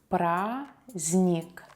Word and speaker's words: праздник: Праздник, праздник. Holiday. We don't pronounce the letter D here.